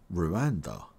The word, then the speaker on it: Rwanda: Tanzania and Uganda and you pronounce Rwanda like this Rue and da Rue Rwanda subscribe for more videos